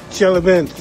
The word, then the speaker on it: Chelyabinsk: Chelyabinsk.